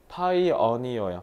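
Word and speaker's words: pioneer: 배타고 위로 올라갔네요 그리고 이것도 발음 잘하셔야 되는게 파이어니어 파이어니어 파이어라는 단어는 알아두면 되게 좋은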